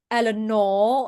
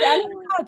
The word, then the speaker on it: Eleanor: So people say Eleanor, and I'm like, no, it's Same, same, same, same. it's Eleanor.